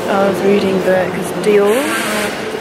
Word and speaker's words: Dior: Anyway, I was reading the, because Dior rhymes with or, which is a French word for gold.